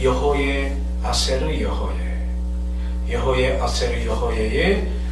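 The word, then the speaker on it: אֶהְיֶה אֲשֶׁר אֶהְיֶה: 이거를 고대 아람어로서 이렇게 발음합니다. 여호의 아세르 여호예.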